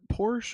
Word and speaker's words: Porsche: Maggie, do you pronounce it Porsche or Porsche?